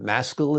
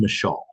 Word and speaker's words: Maschel: about the character of Benjamin Maschel, is how you say his last name? Well, it's actually Mashal. It's a Michelle. it's Okay. it's actually it's Mashal is actually an actual Hebrew name.